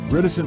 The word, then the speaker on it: reticent: help you memorize this reticent rhymes with silent imagine a silent patient